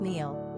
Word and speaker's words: Níall: Níall is actually an anglicized form of a long-enduring Gaelic name Níall, pronounced Níall, used since the Middle Ages in Ireland and the Scottish Highlands.